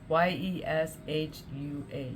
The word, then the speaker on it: Yeshua: It's spelled Y-E-S-S Y-E-S-H-U-A.